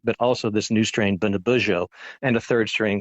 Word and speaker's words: Bundibugyo: And Bundibugyo, my apologies for pronouncing it incorrectly earlier, Bundibugyo, so far, what impact is that having on the patients who have it?